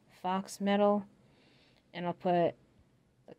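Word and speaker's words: faux: You know the word that sounds like fox, F-A-U-X, I believe it's spelled, fox metal, and I'll put the color.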